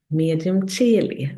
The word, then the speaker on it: medium coeli: Another point in the sunring is the so-called medium coeli. I use Italian pronunciation.